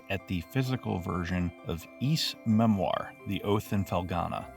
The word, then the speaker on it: Ys: And for those confused, yes, it is not pronounced as wise. It is pronounced as East.